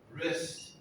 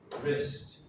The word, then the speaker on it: wrist: it started the w wrist starts the w but we don't pronounce the w we start with an r sound wrist wrist all right number 11.